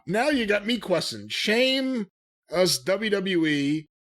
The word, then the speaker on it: Sheamus: and then here comes seamus and he grabs aj now seamus is why do you call him that that's the way it's spelled s-e-a-m-u-s it's an h